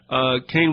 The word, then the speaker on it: Kahn: He pronounces it Kane, it's K-A-H-N.